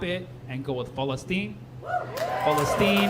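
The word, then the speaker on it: فلسطين: and go with festine festine is the Arabic way of saying it the only issue with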